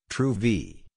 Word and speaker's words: Truvy: today that they have rebranded to truvi pronounced true v but that the heart